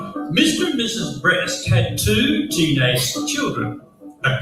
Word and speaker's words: Brest: Their name was Brest. But it's not what you're thinking, okay? It's spelled b r e s t, which is a town in France, which is where their families came from.